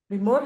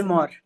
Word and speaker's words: Vimor: beginning how did you um I hope I'm pronouncing it correctly viore V viore yeah so how did you start uh actually